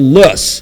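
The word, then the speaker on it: loess: it was wind blown silk what we call lus l o e SS uh and uh and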